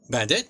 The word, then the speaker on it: Bandet: Bandit. Yep. Cool. Cool. See, I I am good at least figuring out how to pronounce everybody's names.